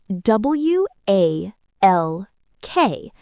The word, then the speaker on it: walk: W A L K. Right. But do we say the L? No, we say walk. The L is silent.